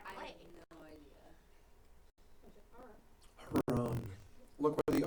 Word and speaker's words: Haran: Haran. Thank you. Think of like laughing like ha. Haran. First syllable is ha.